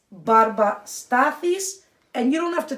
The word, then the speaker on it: Barba Stathis: The brand, which I know is hard for you guys to pronounce, is barba stathis.